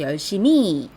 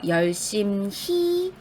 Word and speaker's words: 열심히: 미음을 그대로 주로 연결해서 열심히 이렇게 발음하거든요 그러면 안 되고요 열심히 공부했다라고 히읗을 제대로 발음해 주셔야 돼요 그 다음은 외래어 표기법이죠